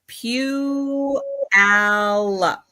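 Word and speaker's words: Puyallup: It's pew alop. Pew. Pew. Like a church.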